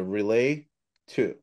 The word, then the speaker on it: Relato: like so we've um we worry about for example relate to whether people pronounce it relato or relate to and so I have to sometimes explain it's like relay information to someone so relay two um but I I